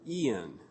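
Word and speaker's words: EAAN: of plantiga's famous evolutionary argument against naturalism or ian okay and if you look on the outline you can see what i am pronouncing there the acronym e-a-a-n i'm not actually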